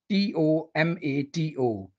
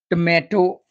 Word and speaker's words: tomato: The first vegetable is tomato. It is not tomato, it's tomato, tomato, tomato.